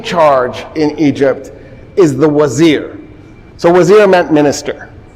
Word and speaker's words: wazir: You'll sometimes see it spelled with a V because the Turks did V, the Persians do V instead of W because they don't have a wa.